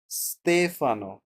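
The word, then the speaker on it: Stefano: সতেফানো ওকে এরকম উচ্চারণ হবে।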